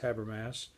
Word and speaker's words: Habermas: And what Habermas says here, by the way, it is pronounced Habermas.